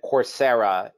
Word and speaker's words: Coursera: trades in the united states uh it's and coursera is the right pronunciation yeah so you spell it c-o-u-r-s-e-r-a exactly